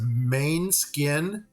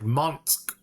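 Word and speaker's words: Måneskin: We read it as main skin, M-A-N-E skin, but that is totally not the pronunciation of it. It's like Monsk or something like that.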